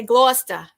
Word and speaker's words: Gloucester: in a town called gloucester but i don't say it like they do they say gloucester but so if i'm speaking to a native of this town if i say gloucester they'll know they call me a wash